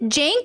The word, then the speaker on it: Cenk: Is it Jank or Chink? I never know how to say his name. I always feel so bad when I mispronounce people's names. Jank? Jank, like with a J.